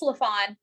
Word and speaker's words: LaFawn: And am I pronouncing your name right? Yes, it's LaFawn, just like it's LaFawn, spelled.